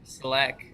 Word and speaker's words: Selec: my name is selec contrary to popular belief that is how you pronounce my last name i'm in beautiful sunny